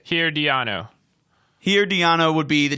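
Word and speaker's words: Herediano: get there right yeah that's that's the way to say it here Dion oh here Dianna would be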